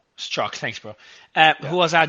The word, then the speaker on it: Strzok: Zork, I think, worked at Twitter by the looks of it, because they said there's two people at Twitter. Mario, for what it's worth, it's pronounced Strzok. Strzok, thanks, bro.